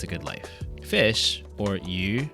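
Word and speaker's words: 魚: Fish, or yu, sounds like the word for abundance, yu.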